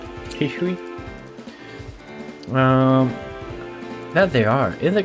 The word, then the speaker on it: Hisui: I guess it has like a Chinese origin. Like the region has Chinese like way. So Hishui or something, right? Hishui.